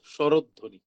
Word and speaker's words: স্বরধ্বনি: তৈরি করলো, সেটি হচ্ছে স্বরধ্বনি। তাহলে প্রথম শব্দ মানে স্বরের শেষ বর্ণটি ওকার দিয়ে উচ্চারণ করতে হয়, তাহলে কি হয়ে গেল? স্বরধ্বনি।